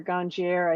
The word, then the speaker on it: ganjier: have you been a ganier did I pronounce that right gonier um you know people say it a lot of different ways I say ganier um I heard I hear ganier I hear ganier like